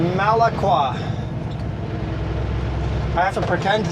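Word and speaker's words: Malakwa: In the dispatch, the boss wrote very clear how to pronounce this place. Malaqua.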